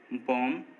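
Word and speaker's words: bomb: जब भी एम के बाद बी आएगा तो वो साइलेंट रहेगा। जैसे कॉम, बॉम, थम, डम, इन सभी वर्ड्स में देखिए एम के बाद बी आया है और जब भी किसी वर्ड में एम के बाद बी आता है तो बी साइलेंट होता है।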